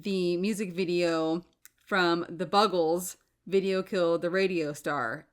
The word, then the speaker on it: Buggles: And I checked, it is Buggles, because I was like, is it Bugles? Is it Buggles? Because if you look, you're like, how do you say that? I checked on the internet, it's Buggles.